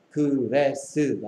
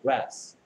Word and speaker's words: grass: 그래서 grass는 몇 번만에 발음해야 되는 거야? 한 번만에 발음해야 되는 거야. grass. 그래스가 아니고 grass.